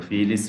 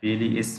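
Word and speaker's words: filiis: Not Philis, Philis, but Philiis, Philiis. That we should keep in mind.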